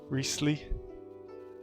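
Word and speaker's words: Wriothesley: His name is pronounced like... Okay. Riesli.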